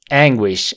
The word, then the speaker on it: anguish: bastante tional br emotional anguish anguish Sí aquí la sílaba fuerte o la tónica está en la primera Silva en en wish wish